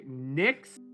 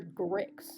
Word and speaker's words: Nyx: what's your name okay NYX oh gosh I thought you called her gricks I I spelled with